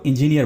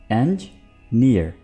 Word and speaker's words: engineer: दोस्तों, आमतौर पर इसको इंजीनियर बोला जाता है, इंजीनियर, जो कि गलत प्रोनाउंसिएशन है। इसको ठीक तरह से कैसे बोलते हैं? इंजीनियर, एंजीनियर, यानी कुछ यूं एंज और फिर नियर। तो इस तरह से इसकी सही प्रोनाउंसिएशन होगी।